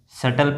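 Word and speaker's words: subtle: इसको क्या पढ़ेंगे? सटल। नो। इसको पढ़ेंगे सटल। सटल पढ़ेंगे। क्योंकि यहां पर जो बी है वो साइलेंट है।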